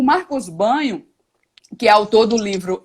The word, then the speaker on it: Bagno: marcos banho né e a pronúncia correta é banho mesmo porque vem do italiano né marcos bagno vale ressaltar então o marcos banho que autor do livro